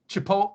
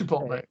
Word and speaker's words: chipotle: instead of theater to make fun of people mispronouncing it it's the same way i call call that that burrito shop chipot chipot uh chipotle instead of chipotle chipotle right it is chipotle well these don't call these